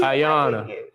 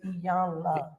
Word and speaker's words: Iyanla: we pronouncing her name wrong, so she. Ayana. It's Iyanla.